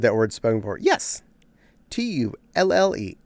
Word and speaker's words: tulle: Tulle. Tully. I always said it's tool. Some people say that too. There are multiple ways to say that particular word. I've heard it pronounced both ways, and I go with